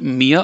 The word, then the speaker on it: mir: Again, it's, how do you say me, and then mia, Mia. Okay. Other way to think of this as, like, you just say mi, that is me. You don't pronounce the r part.